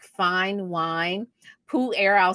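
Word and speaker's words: Pu-erh: decrease some of those um senescent memory cells pool air tea i kind of think of this as a type of tea that's aged like fine wine poo air i'll spell it p u dash e r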